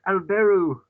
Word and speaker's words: Albert: They're pronouncing it in English, and it's Alberu.